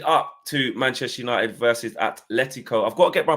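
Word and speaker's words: Atlético: And I really appreciate you pronouncing Atletico correctly, because it does drive me up a wall sometimes when I see people throwing the H in there.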